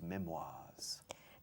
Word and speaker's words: memoirs: La R ni se oye. Okay. Memoirs. It's Memoirs? the French pronunciation of memorias. Okay. We don't say memories. Memories son recuerdos.